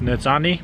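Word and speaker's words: nizhóní: and Navajo means beautiful I think it's pronounced nits Omni doula dole nitsana da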